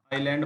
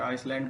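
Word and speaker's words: island: नहीं करते हैं ऐसे आइलैंड बोलते हैं अगर आइसलैंड बोलते हैं तो गलत है वह आईलैंड बोलेंगे एल्बम लेंगे इस तरीके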